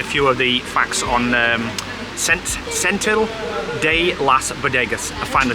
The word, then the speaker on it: Setenil de las Bodegas: Right, so to give you a few of the facts on Setenil de las Bodegas, I finally said it right.